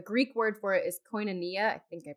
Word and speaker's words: koinonia: The original word for that fellowship, the Greek word for it is koinonia. I think I pronounced that right.